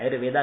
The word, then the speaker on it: Ayurved: Spelling आपको आता है, लेकिन उसमें अंत में ए नहीं लगाना है, आयुर्वेदा नहीं करना है। तो MHETRE मेहत्रे, AYURVED मेहत्रे आयुर्वेद, इस यूट्यूब चैनल पे आपको ये सारी कथाएं, सारे आयुर्वेद के कई सारे लेक्चर ये मिल जाएंगे।